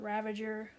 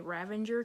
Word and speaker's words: Ravager: call her Barda Batman Ravager and I promise you guys before they end this video I'm going to mispronounce her name and say Ravinder cuz I always put an N in her name I don't know why